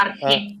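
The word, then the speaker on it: arché: con J, con J. Arge, con J. Arge, con acento en la E.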